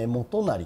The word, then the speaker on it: 元就: は毛利元就という元就と読むんですね、これね。